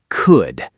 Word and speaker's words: could: Could. C O U L D. It sounds like could. The letter L is silent.